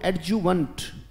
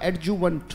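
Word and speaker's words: adjuvant: सकते हैं बेटा, बोलो एडजुवेंट, बोलना पड़ेगा बेटा, शाबाश, बोले एडजुवेंट, बोलो ए डी जे यू वी ए एन टी, ये वेंट मत पढ़ना, ये वंट पढ़ा जाएगा बेटा, उच्चारण होगा एडजुवेंट, बोलो शाबाश, एडजुवेंट।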